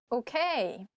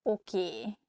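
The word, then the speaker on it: oké: learn something okay okay this word comes from english probably it's easier for hungarian speakers to pronunciate it that way so we just say a sound a at the end so it sounds oki instead of okay hosnal to use what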